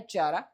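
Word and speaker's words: Chara: वो चारा नहीं अल्गी है जिसको चारा बोलते हैं। प्रोनाउंसिएशन होता है चारा।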